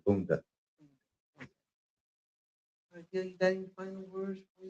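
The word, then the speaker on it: Boondi: Tisha will call me, but a lot of them say it wrong. They'll say boom. Yeah. It's B O O N D I Bunda.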